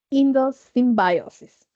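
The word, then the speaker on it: endosymbiosis: A veces la pronunciación en inglés se me va, pero es indo symbiosis.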